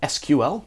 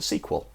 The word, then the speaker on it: SQL: You know, some of you folks call it SQL, some of you call it SQL.